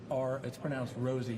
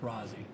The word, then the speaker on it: Rozzi: It's pronounced Rosie, not Rozzi.